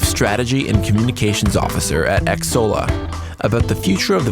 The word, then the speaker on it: Xsolla: So, I want to start at the top about what Exola is.